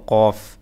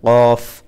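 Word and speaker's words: كاف: যে মাঝখানে পেঁচানো আছে এটা হচ্ছে কাফ বাংলা ক মতো এটা কাফ শেষে এই যে দাঁত এবং ঠোঁট লাগবে উপরে দাঁত ঠোঁট শেষে ফার মতো কিছুটা ফর মতো বাংলা ফ শেষের দিকে কিন্তু শুরুতে কর মতো কাফ কাফ তারপরে লাম লাম মিম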